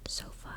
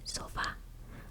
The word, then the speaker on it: sofá: So when I pronounce sofa, it's not sofa, it's going to be sofa. I'm enunciating and pronouncing the A more because that is the letter that has the accent.